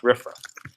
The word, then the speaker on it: RFRA: It's pronounced RFRA.